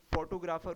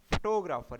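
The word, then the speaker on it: photographer: अब इसमें फोटोग्राफर उर्दू में पढ़ते हैं, इसे क्या पढ़ते हैं इंग्लिश में, फोटोग्राफर, यानी टो पे जो है ज़्यादा स्ट्रेस देनी है।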